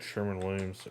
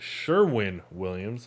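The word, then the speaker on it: Sherwin-Williams: go Sherman let's check Sherman Williams Sherman Williams did I misspell it Sherwin Sherwin I don't think I've ever noticed that it's actually Sherwin Williams I thought it was always Sherman so my mistake even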